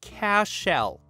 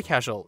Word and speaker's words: Cashel: kin are from cashel i want to note that he pronounced it like it was klingon or something he pronounced it cash shell which is not how it's pronounced i said oh cool